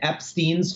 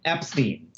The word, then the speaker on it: Epstein: Brian Epstein's family says Epstein. That is the way the family pronounced their name. And the source that I would quote is Brian's mom. Brian's mother says the correct way to pronounce my family's name is Epstein.